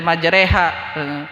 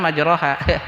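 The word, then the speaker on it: مجريها: Di dalam surat Yusuf, gitu kan, dibaca majreha, padahal tulisan majroha.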